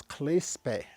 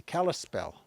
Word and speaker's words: Kalispel: What they called themselves was Clispe, and that became mispronounced to be Kalispel. And so, and it happened to almost every tribe.